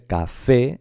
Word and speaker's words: café: Pues vamos a ver, si se dice café es porque lleva la fuerza, la sílaba tónica está en la última.